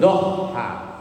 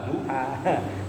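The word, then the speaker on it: ضحى: pernah menyembelih udhiahkan sembelihan Iya Doha bukan duha kalau duha Ya benar salat duha Tapi bacanya enggak begitu Doha menyembelih hewan kurban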